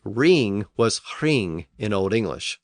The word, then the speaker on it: hring: They were often pronounced with a slight breathy sound before the initial R. So a word like ring was hring in Old English, spelled H-R-I-N-G, and roof was hroof, H-R-U-F.